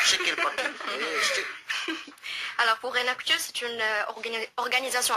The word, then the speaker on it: Enactus: Et vous pouvez avoir bien sûr plus d'informations en allant sur le site donc de Enactus, comme ça s'écrit, comme ça se prononce, Enactus, et vous avez bien